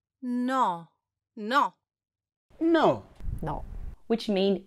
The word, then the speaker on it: no: not see then no or no is pronounced with rounder lips that stay open no it's not like the English no where your lips begin to narrow and close towards the end of the word it's no no see and no